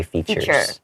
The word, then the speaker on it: features: we would just say features. Yeah. So, you might see FT period. That's what features is. Okay. Make sure you don't pronounce that like future like f u t